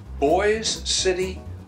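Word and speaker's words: Boise City: man was discovered 1996 boy City Oklahoma it's spelled like Boise Ido b o i e but it's boy City Ido it's the only City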